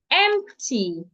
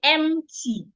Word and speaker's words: empty: So next word I have is excuse me empty. A lot of people pronounce this word without the P. They say empty. The P in this word is not silent. So the P should be heard.